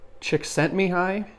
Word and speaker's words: Csikszentmihalyi: that I've seen that apparently his name is pronounced even though there's ELLs in there it's me hi Csikszentmihalyi although I've heard people know him go he